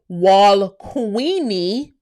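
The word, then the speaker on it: Gualquini: Glenn County pronounced Walqueenie.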